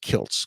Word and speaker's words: Kiltz: like I like it's it's actually pronounced Kilts k i l TZ so I threw a